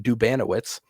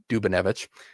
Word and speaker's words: Dubanowitz: Uh Jaden Dubanowitz, I've learned that is how you pronounce his last name, not Dubanvich.